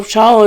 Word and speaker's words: Shaul: And that's spelled the same way as Shaul. So Shaul is Shaul, and Shual is Shual.